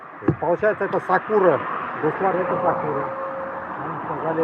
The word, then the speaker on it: сакура: Ударение, когда сакура на первое А оказывается.